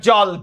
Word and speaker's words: জ্বল: সবাই চিল্লায়া ভাইয়ার সাথে বলতো এই যে ঢাবির প্রশ্ন সবাই বলতো উচ্চারণ করো জ্বল এটা কি জল নো এটা জল জল জ এর সাথে অ আছে ল এর